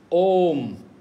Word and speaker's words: Om: Okay, so one syllable, Om. We say O-M or A-U-M. You can spell it both ways.